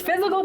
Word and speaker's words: Fyzical: It's Physical Therapy, but it's spelled differently.